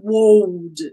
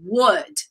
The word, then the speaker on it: would: But the point here is the pronunciation of would. It's not would, okay?